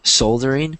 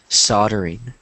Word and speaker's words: soldering: It looks like soldering, but it's pronounced soldering.